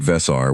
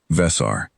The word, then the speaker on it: Vesar: Not Vesar with the flat front vowel that compact processing officers used when they bothered to use anything other than my case code. Vesar.